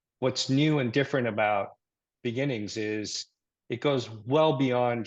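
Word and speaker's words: BeginNGS: called begin NGS and I think you you pronounce it Beginnings right which is a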